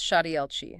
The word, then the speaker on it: Shaddai El Chai: Pronounced Shadi El Chi. That she is guttural, like in Loch.